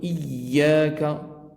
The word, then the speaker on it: إياك: Et on appuie un peu sur Iyyaka. Iyyaka na'budu wa iyyaka nasta'in. Chaque fois qu'il y a une shadda, c'est une lettre redoublée, d'où l'importance de bien la prononcer.